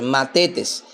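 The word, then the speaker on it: μαθητής: dice llama o se pronuncia o se dice mates. Se escribe m a t h e t e s. Matetes, que significa simplemente un pupilo o un alumno.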